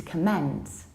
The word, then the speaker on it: comment: In American accent, nothing changes and we still say comment to comment. Whereas in British English, we can say, again, to comment, but we can also stress the second syllable and say to comment.